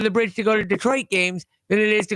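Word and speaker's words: Détroit: lovingly call it, destroyed, in French it's Detroit.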